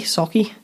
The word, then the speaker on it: Sauchie: you feeling i'm wondering if it's on sucky hall in glasgow because that's the only sucky socky socky it's spelt the same as sucky hall yes okay yeah that's